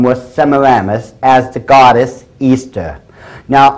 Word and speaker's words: Ishtar: Semiramis as the goddess Easter. Now, a lot of people think it's pronounced Ishtar, I-S-H-T-A-R. People, check the Babylonian Talmud once again. It is properly pronounced to this very day, Easter.